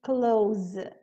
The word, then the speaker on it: clothes: para a pronúncia e a gente acaba pronunciando simplesmente close close como se nós tivéssemos um z no final Close like you girl